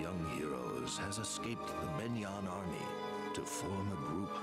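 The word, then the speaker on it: Begnion: Oh, it's pronounced Benyan. The G is silent.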